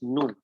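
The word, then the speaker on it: ν: इसको बोलते हैं nu बोलते हैं. NEW. ऐसा pronunciation. You should pronunciation like NEW nu. But how to say that? It is nu.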